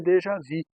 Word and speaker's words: déjà vu: A pronúncia é déjà vu.